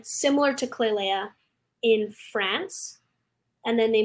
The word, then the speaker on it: Klailea: have a youtube channel which is my name clay leia and then i also have an instagram which is also can you spell it please yes it's k-l-a-i-l-e-a how did you